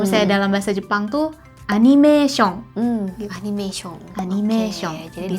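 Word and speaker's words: アニメ: tapi masalahnya disini adalah ada satu orang yang jemputnya anime 10 sebutnya Enim Yuwita gue banyak banget loh satu anime gitu ya animation mungkin habis sebenarnya kalau yang isi yang Betulnya gitu apa sih sebenarnya kalau dalam bahasa Jepang istilah yang Betulnya kalau dalam bahasa Jepang itu disebutnya adalah anime anime anime ini tuh sebetulnya Kenapa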